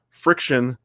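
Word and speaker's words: FriXion: the the pilot uh friction fri xion because they want to spell it cool the pilot friction pins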